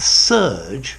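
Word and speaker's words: serge: the current coming through don't confuse this word with surge same pronunciation ser GE meaning a woolen fabric okay so to surge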